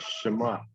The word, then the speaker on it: Shema: terms means to hear the hebrew word pronunciation sounds more like shema but it is also